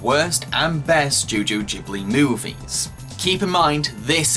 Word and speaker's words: Ghibli: Studio Ghibli, and yes, that is how one of the studio's co-founders pronounces Ghibli before anyone starts lynching